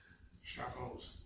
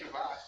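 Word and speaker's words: שבת: Shabbos. You give me the Ashkenazi pronunciation to make me feel at home. I know, I didn't want to hurt your feelings. Say Shabbat.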